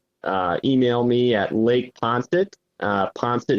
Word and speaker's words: Poinsett: Poncet is spelled POINSETT @ .sd, like South Dakota, .us.